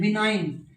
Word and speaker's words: benign: है, MALIGN, मेलाइन, गै sound silent, जी sound silent. बिनाइन, दव्य, देवीय, तो BENIGN, बिनाइन।